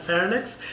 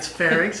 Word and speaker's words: pharynx: Seuss then there's certainly a lot of people pronounce them Lennox and fairness and I always make sure to correct them I pharynx and larynx but in normal people's vocabulary that